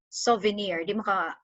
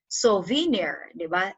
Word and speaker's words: souvenir: stressed syllable example souvenir souvenirs you would not say soviner it's not it's a souvenir then the near has the stress so too unstressed with